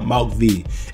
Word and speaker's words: Malc Vx: Whatever music app you got, just type up Malc V. M-A-L-C-V-X. The X silent.